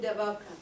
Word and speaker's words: Dadaab: And we talked a little bit about Dadaab, is that how you pronounce it? Dadaab.